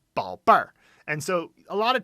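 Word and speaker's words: 宝贝儿: So yeah, it's 宝贝儿. And so a lot of times with adding the R after any particular pronunciation, sometimes, it can be a little bit confusing.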